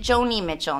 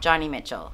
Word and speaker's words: Joni Mitchell: lost Joni Mitchell and I think you pronounce it Joni Mitchell not Johnny Mitchell Pappy I didn't become